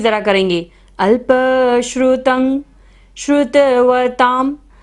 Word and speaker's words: श्रुतवतां: अल्पश्रुतं श्रुतवतां, ता के ऊपर बिंदी है और बाद में क्या आ रहा है, प, तो यहाँ पर बिंदी का उच्चारण क्या होगा, म।